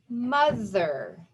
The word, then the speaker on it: mother: However, the O says the sound. So we would not want to spell that M-U-T-H-E-R, but it's M-O-T-H-E-R. So we have this sound. We know one of the sounds for TH is V, just like it's happening here.